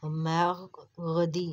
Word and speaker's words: mercredi: Here we are pronouncing two R. Mer and C को हम काफ pronounce कर रहे हैं. Mercredi, mercredi.